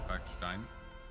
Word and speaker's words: Kalkstein: Kalkstein, technical Kalkstein, pronounce it in German, and Ramsmeat.